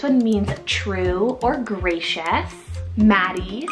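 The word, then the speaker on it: Mattie: list and this one means true or gracious Maddie spell m a t TI i e Maddie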